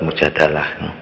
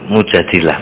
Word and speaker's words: Al-Mujadilah: keluarganya Imran sama surah Al-Mujadilah itu yang sering dibaca surat mujadalah ya gak apa-apa tapi yang lebih pas itu mujadilah bacanya insyaallah sama surat